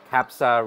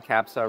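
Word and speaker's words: kabsa: try this is lamb trying to pronounce that right but I think it is pronounced capsa rice lamb capsa rice and a giant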